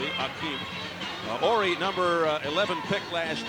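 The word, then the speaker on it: Hakeem: It's spelled now with an H, Akeem, but it's pronounced as it used to be, Akeem.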